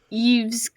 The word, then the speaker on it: Yves: by french artist yves eve's use klein that's how you pronounce it right it's y e y v e s that's zeus right now it's french it's probably eve it's probably shut up